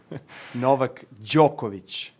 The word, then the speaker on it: Novak Djokovic: is just the beginning how does Novak Djokovic pronounce his name Novak Djokovic try it at home how does Novak Djokovic